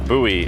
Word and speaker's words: Bowie: center in bowie texas even though it's spelled bowie b-o-w-i-e but you can get chrome truck accessories and boots and jeans so not to be confused with boots and cats boots and jeans okay so buoy is pretty awesome this